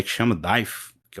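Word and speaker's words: Deigh: Você não pronuncia o GH.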